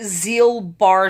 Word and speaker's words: Gilbert: It's spelled Gilbert syndrome, but it's pronounced Zeal-Bar syndrome.